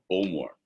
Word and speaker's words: Bowmore: going to talk about Bowmore. And this one is much easier to pronounce for most of you because it is actually spelt like it pronounced.